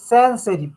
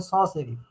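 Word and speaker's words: sans serif: স মানে স্যান সেরিফ, তোমরা দেখবা এমনিতে পড়তে গেলে মনে হবে স্যান সেরিফ, কিন্তু স্যান সেরিফ না পড়ে তোমাকে পড়তে হবে স সেরিফ, হ্যাঁ, কারণ এটা উচ্চারণটা ফ্রেঞ্চের মতো করতে হবে।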